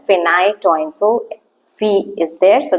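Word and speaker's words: phenytoin: pH I remember four we pronounce it as phite toin so Fe is there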